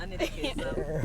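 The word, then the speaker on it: Annette Kezaabu: Is that the right pronunciation? That's it. Dr. Anneette Kezaabu.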